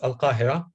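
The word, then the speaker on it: القاهرة: long time ago, and it pronounced in Arabic, as we know that because Egypt is an Arab country, so they say that it's Al-Qahira, and it built around the Nile River.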